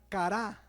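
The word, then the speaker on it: קרא: hebreo la palabra invocar es la palabra hebrea cara como cara pero con acento en la cara y significa un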